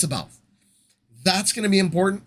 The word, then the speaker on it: C'baoth: It's C'baoth. It's C'baoth. I know. I always pronounce it C'baoth. The audiobook pronounces it C'baoth, but it's C'baoth.